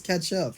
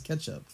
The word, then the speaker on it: ketchup: says cat chop what no one says catchup you know everyone says ketchup you know like ketchup it's cetch ketchup it's got a e in it yeah I've never heard